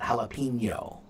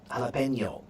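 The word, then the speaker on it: jalapeño: you know the nia sound that jalapeno right um jalapeno right so uh again that's a Spanish pronunciation but we adopt it right when we say Spanish names one right we we say the j the Spanish way right so yeah we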